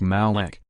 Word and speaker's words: Moloch: represents the age of taurus the letter M pronounced Malek in the Egyptian alphabet is represented by a